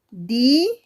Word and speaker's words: Díaz: Díaz, que tiene 2 sílabas.